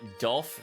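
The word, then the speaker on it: Diulf: You got Dolph from D-I-U-L-F. Why is there an I in Dolph? I guess the I is silent, chat.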